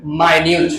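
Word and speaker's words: minute: তাহলে মিনিট তো হওয়ার প্রশ্ন এনি আইডিয়া এটার প্রোনাউন্সিয়েশন হবে মাইনিউট কি হবে মাইনিউট মাইনিউট মানে কি ছোট কম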